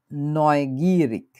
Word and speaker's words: neugierig: এরপর হচ্ছে neugierig, আগ্রহী, কিউরিয়াস। হঠাৎ করে আপনি দেখলেন হচ্ছে রাস্তায় কিছু একটা ঘটতেছে, দেখতেছেন একজন আরেকজনের মারামারি করতেছে, আপনি হচ্ছে আগ্রহী হয়ে গেলেন, neugierig। এবং এটার উচ্চারণটা একটু পিকুলিয়ার টাইপের হওয়ার কথা, Neugierig.